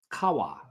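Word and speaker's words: قهوة: of coffee was Arabic the Arabic word Kawa which is spelled q a w a Kawa that's what it sounds like uh which actually referred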